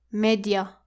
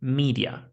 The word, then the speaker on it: media: This word should not be pronounced like media. It's media. Media. That's right. It's not an a, it's an e sound.